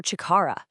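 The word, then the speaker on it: 力: It's chi, or chikara. It means power or strength.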